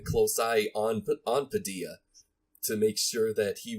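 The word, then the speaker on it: Padilha: espanol uno momento Jose Padilla I believe Padilla yeah Padilla the H in Spanish is silent ugly so director Padilla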